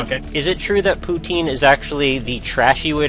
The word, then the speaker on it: poutine: uh is it okay is it true that poutine is actually the trashy way to pronounce the word and it's actually uh putin it's putin putin okay it's like the the russian prison